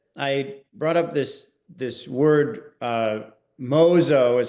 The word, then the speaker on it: 妄想: In fact, it's to the point that I brought up this word, mōsō is how you say it in Japanese.